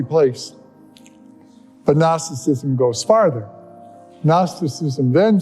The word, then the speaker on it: Gnosticism: called gnosticism gnosticism is one of those words that begins with the G but the g is silent gnosticism and gnosticism can best